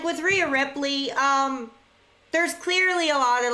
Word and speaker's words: Rhea Ripley: Someone like Rhea Ripley, is that how you say her name?